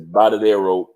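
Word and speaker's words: Varadero: sound makes a b sound so it's it's bottadero Beach so if you Google that in Cuba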